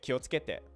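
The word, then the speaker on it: 気をつけて: If you're holding your throat as you do it, you will not feel vibration between the ts and k if you're pronouncing it correctly. So you'll feel ki, which is going to be led into o. So both of those are vibrating your voice box, so you'll pronounce both of them. Kyo, tsuke, tsuke. No vibration there until you hit the e.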